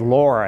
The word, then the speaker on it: Laura: And she said, Laura. And all of a sudden, Laura, L-A-U-R-A, and it could be pronounced L-O-R-A or whatever, but that name had resonated through my young childhood with other very kind, nurturing women.